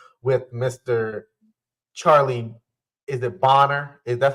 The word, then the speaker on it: Bonner: enjoying the conversation with Mr Charlie is it boner is that's how you pronounce it yeah you you you got it